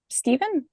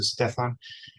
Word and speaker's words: Stefan: little bit absolutely um Stephen yeah thank you um this is Stefan um the pronunciation of my first name is like Stephanie so Stefan um pronounce is he she